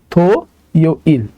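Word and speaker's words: 토요일: মানে হচ্ছে শনিবার ওকে এখানে আছে হচ্ছে থিউত থিউতের জন্য আমরা একটা থ নিলাম নিচে আছে হচ্ছে ও এর জন্য আমরা একটা থ এর সাথে ওকার দিলাম ওকে তাহলে উচ্চারণ হবে তো থো ইল মানে হচ্ছে শনিবার থ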